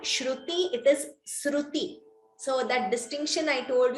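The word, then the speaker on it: स्रुति: So please do not chant it as Shruti. Shruti is Veda, that is completely different. This is Sruti.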